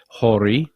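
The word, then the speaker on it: Horie: more about the history of kenichi should be pronounced hori when he was 23 he sailed from japan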